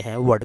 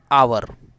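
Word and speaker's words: hour: For example an आवर, एन एयर, N honourable person, an early visit. अब ये जो examples हैं उसमें ये हावर नहीं आवर है, ये हेयर नहीं एयर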